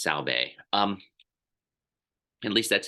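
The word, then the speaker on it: Sahlberg: lessons, and I always his name, the way it looks and how it's said, are two different things. I believe it has Swedish roots. I believe it's Pasi Salbe. It looks like Berg to me, but I believe it's Salbe.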